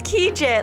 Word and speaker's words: Kegel: i'm so sorry but it's kegel like gadget and i'm like thank